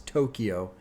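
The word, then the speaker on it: Towkio: Juke Jam it's featuring Tokyo probably supposed to be pronounced as Tokyo but it's spelled weird and then Justin Bieber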